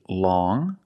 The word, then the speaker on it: long: First, we see long with the sound which is a nasal sound.